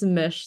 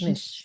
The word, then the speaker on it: Mich: for us is that it's Mish like fish Mish thank you yeah um